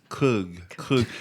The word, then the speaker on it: Krug: Beer is pronounced like beer, but the Germans call that Krug. Kug. They don't say a hard R.